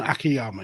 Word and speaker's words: Akiyama: Was that how you pronounce his surname? Jun Akiyama, yeah.